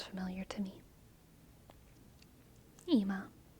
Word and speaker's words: Ima: Ima. That sounds familiar to me. Ima. It's spelled with an I though, McJake. I-M-A. Ima. But it's an Anglicization of the Hebrew anyway, so the spelling doesn't really matter.